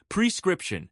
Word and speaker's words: prescription: Prescription. Stress the middle syllable. Sarah, can you try saying it? Prescription.